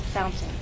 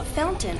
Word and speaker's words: fountain: barefoot boy you know Fountain is one of those words in English that has two pronunciations the standard pronunciation is fountain with a true t t Fountain the other pronunciation is what you'll hear in fast speech fountain this is more typical of everyday informal English Fountain how am I making